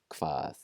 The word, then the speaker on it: hvað: There are some parts of Iceland that will pronounce it slightly differently, but mainstream Icelandic just KV sound, hvað, hver, and hvor.